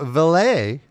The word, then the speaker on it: valet: Then we have Val Venus versus Test, who comes out with his new valet.